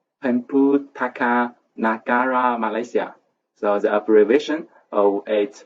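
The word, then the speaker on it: Perpustakaan Negara Malaysia: It's pronounced in Malay, Pemputaka Nagara Malaysia.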